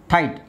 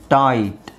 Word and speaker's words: tight: ಫೈಟ್ ಫೈಟ್ ಹಾಗೆ ಇದು ಫಾಟ್ ಫಾಟ್ ಫೈಟ್ ಫಾಟ್ ಟೈಟ್ ನೋಡಿ ಇಲ್ಲೂ ಅಷ್ಟೇ ಇದನ್ನ ನೀವು ಜಿ ಎಚ್ ಹಾಕ್ಲಿಲ್ಲ ಅಂದ್ರೆ ಟಿಟ್ ಆಗುತ್ತೆ ಟಿಟ್ ಜಿ ಎಚ್ ಇರೋದ್ರಿಂದ ಅದು tight okay eight eight ಇದು ಬ್ರೈಟ್ ಬ್ರೈಟ್ ಓಕೆ ಹಾಗೆ